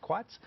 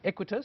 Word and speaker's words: Equites: morning aequitas property fund we've been pronouncing it wrongly and we apologize for that we were saying it quits equitas said listed on the